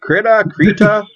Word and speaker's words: Krita: Krita? I pronounce it Krita, and everyone I know pronounces it Krita.